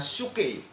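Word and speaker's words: ψυχή: itu bahasa Yunani-nya tuh dipakai kata suke, pesuke ya. Saya bacanya suke.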